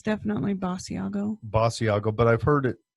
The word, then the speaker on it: Basiago: Okay, it's definitely Basiago. Basiago, but I've heard it pronounced like George Nori calls it Basiago.